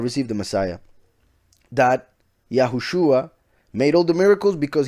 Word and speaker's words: Yahushua: repeat it right now yahushua came with the name with this pronounciation yahushua yahushua then the jews who